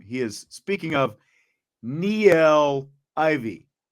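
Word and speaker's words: Niele Ivey: from tommy guns can we get the actual pronunciation on her name he is speaking of Neil Ivy not Nile Ivy Niel Ivey you know who I'm talking about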